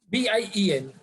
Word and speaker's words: bien: B-I-E-N. B-I-E-N. Okay. Okay. But Kushi, in French, whenever there is alphabet N, we have to we have to pronounce like nasal sound.